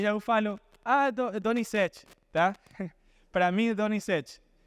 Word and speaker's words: Donizete: Então, eles falam para mim, como pronuncias o nome de Donizete em português, tá? E eu falo, Donizete, tá?